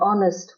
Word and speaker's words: honest: An is used if the noun following it starts with a silent H. Examples: an hour, an honest woman, an honor.